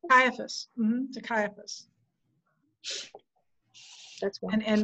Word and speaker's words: Caiaphas: With his response with, how do you pronounce it? Caiaphas? Caiaphas.